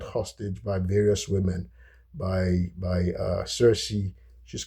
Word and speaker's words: Circe: Um, Circe in the Greek, by the way, in Greek it's called Kirki, right? Kirki, but it's spelled. So I'm just gonna keep it at the give us the English pronunciation, and then Calypso.